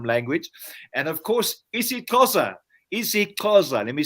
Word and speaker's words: isiXhosa: isiXhosa, let me say it properly, from Ngwadi all the way from the Eastern Cape.